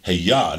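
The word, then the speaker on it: אֶהְיֶה: To you, because if you say Heyah, now you have the Hebrew pronunciation for I am.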